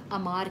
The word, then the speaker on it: Amar: कोई अमार कहता था, कोई अमन, कोई अंबर, कोई आमिर. तो मुझे आदत हो गई है गलत नाम सुनने की, लेकिन मेरा नाम अमर है.